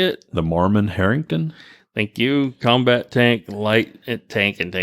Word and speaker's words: Marmon-Herrington: name typical charlie how do you say it the Mormon Harrington thank you combat tank light it tank and